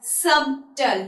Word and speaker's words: subtle: That means the letter B is silent in all of these words.